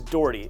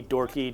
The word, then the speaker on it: Dougherty: seen the spelling of my last name sometimes it's a little tough to pronounce don't worry if you've called it doherty dorky dardy daughtry dirgitty i've heard it all so aka